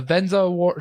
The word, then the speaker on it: Vezina: He won the Conn Smythe, the Vezina Trophy, and the Stanley Cup all after the